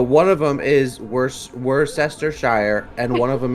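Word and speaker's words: Worcestershire: is wor Chester wer no it's Worster whater share whater sh you pronounce it like you're saying wor w w o r c e s t e r yeah but the one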